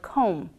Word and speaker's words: comb: end of a word after the letter M for example the word comb some other words include